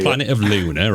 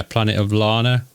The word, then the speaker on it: Planet of Lana: No, Planet of Lana, isn't it? I always get the name wrong. I say Planet of Luna, or I keep getting that wrong. But yeah, Planet of Lana.